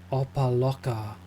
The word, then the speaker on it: Opa-locka: So the landing arrival airport is called I don't know if I can pronounce it correctly. Opa-locka.